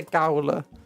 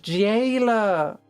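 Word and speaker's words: gaoler: Now I want to find out what the heckers is a Gowler? A Gowler. Google. G-A-O-L-E-R. It's pronounced jailer.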